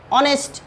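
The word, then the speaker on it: honest: কেন এন বসবে, কারণ এই যে এইচ এর উচ্চারণটা হবে কি উজ্জ, উজ্জ মানে এইচ এর উচ্চারণ হবে না, আর এইচ এর উচ্চারণ যেখানে হবে না সেখানে এ বসবে।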